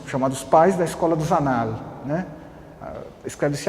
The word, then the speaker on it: Annales: Que é um dos chamados pais da escola dos Annales, né? Escreve-se Annales, mas o francês pronuncia-se Annales, né?